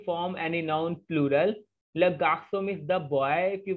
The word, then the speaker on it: garçon: C will be pronounced as S. That's why we are saying le garçon, here also les garçons.